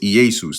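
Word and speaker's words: Ἰησοῦς: It's Easus. That's how you pronounce it in Greek.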